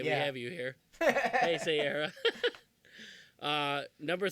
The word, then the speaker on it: Heisei: See, I'm already That's the mispronouncing. original era. That's the original. 1984 to 1995 is the Heisei era. Heisei? Heisei.